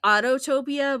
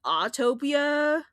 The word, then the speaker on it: Autopia: like Finding Nemo and I always want to say Autotopia, but apparently it's Autopia. Autopia. Autotopia. So I always call it apparently that's supposed. Autotopia. I call it Autotopia, but it's spelled Autopia. There's no Hmm. there's no two like Autotopia. It's there's too many T's when you say Autopia. Autotopia.